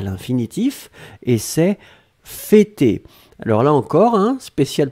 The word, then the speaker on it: fêter: Fêter, et on prononce bien le « e-e-e » pour l'accent circonflexe.